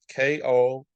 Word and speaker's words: Kobudai: So that Kobadai, if you want to look that up, it's spelled Kobudai.